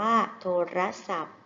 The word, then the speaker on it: โทรศัพท์: โทรศัพท์ นั่น เอง ค่ะ โทรศัพท์ มี ทอ ทหาร การันต์ อ่าน ว่า โทรศัพท์ ภาพ นี้ คือ รถ